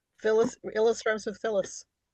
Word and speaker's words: Illis: Elish. Because it's like Budapest. An S in Hungarian is an sh.